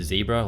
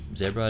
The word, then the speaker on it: Zebra: a brush pen called the zebra or 0 depending how you want to pronounce it this particular pen is